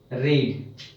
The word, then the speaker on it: read: रीड का second form रैड, लिखते रीड ही है, इसका प्रोनाउंसिएशन रैड कर लेते हैं ताकि थोड़ा सा डिफरेंस मतलब पता चले, तो इसको हम रैड पढ़ लेते हैं।